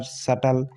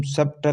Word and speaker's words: subtle: इसी प्रकार सटल, यानी SUBTLE है, तो इस हम सबटल नहीं पढ़ेंगे, सटल पढ़ेंगे, क्योंकि यहाँ टी से पहले बी है तो बी लेटर साइलेंट रहता है।